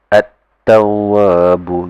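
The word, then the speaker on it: التَّوَّابُ: At-tawabu. At-tawabu. You don't hear me enunciating the lam. You cannot hear the lam when I pronounce it because it just bypasses it and just straight away go to this letter.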